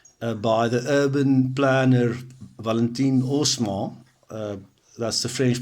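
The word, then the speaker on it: Haussmann: was only renewed by the urban planner valentin osman that's the french pronunciation of hausmann he must have been from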